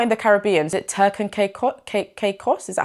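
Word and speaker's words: Turks and Caicos: Is it Turk and Caicos? Is that how you say it? Turk and Caicos?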